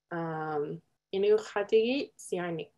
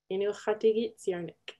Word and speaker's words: Inuqtuurunnarniq: So the first one is Inuqtuurunnarniq. Inuqtuurunnarniq.